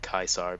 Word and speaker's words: Caesar: I think that um in the days of Roman Empire they probably would have said kaisar because uh in Latin C's are pronounced as K's kind of like how